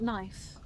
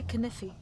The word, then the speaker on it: knife: lot, you know, like knife. The K is silent, right? So he used to say canify and I kind